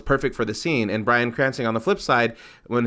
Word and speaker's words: Bryan Cranston: Hart's comedy to make it funny, and maybe Bryan Cranston Did I say his name right? Yes. Bryan Cranston will be, like super, super dramatic while Kevin Hart's being super, super comedic.